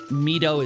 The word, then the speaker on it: Mido: him Meato instead of I I grew up with him with saying Maido. uh but just thinking in terms of general pronunciation in for Japanese language I'm mido is more likely to be the correct pronunciation anywh who so